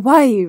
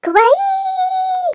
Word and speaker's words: kawaii: okay cool cool cool cool you're saying cool Kawaii wrong Kawaii guys I am certain that I know the proper pronunciation of kawaii wow that was amazing with